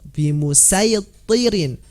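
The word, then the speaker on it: بِمُصَيْطِرٍ: Nah, untuk kata sirat dengan bimusaytirin tidak ada sin di sini sebenarnya dan shad berdampingan. Mengapa? Karena memang ya Imam Hafiz tidak membacanya dengan huruf sin sama sekali dan tidak ada pilihan kecuali dengan huruf shad.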